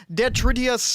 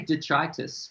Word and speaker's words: Detritus: album uh and uh forgive me if i pronounce this wrong but uh dead tridius uh city i believe that's how it's pronounced do i totally butcher in that no no no that's pretty close i think i i say detritus that's way cooler than